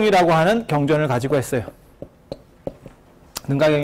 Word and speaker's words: 능가: 하는 경전을 가지고 했어요 능가경 이 여러가지가 있는데 이때는 사관으로 된 4번 짜이 능가경 을 가지고 있어 네번째는 거야 4 권는 가기를 능가 가 어 이게 요즘 발음으로 하면 l 앙카 방카 란카 들어보셨어요 스리랑카에 4 술 당